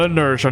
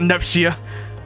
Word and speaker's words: inertia: No, that's not how you say it. It's called inertia, not neia, if you want to call that.